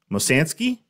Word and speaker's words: Mosansky: And then he looks at my license and he goes, Mosansky? Is that, how do you say that? And then I say, you said it right, Mosansky.